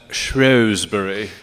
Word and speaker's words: Shrewsbury: The British pronounce that Shrewsbury.